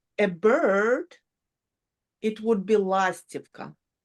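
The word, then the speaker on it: Ластівка: Lastivka. The first one, the emphasis on the first one, lastivka.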